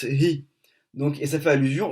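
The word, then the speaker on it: היא: c'est-à-dire he vav aleph, mais on le prononce hi.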